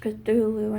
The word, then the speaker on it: Cthulhu: because a lot of those stories like Cthulhu pronounced Cthulhu and there's personal mythos but Petula is a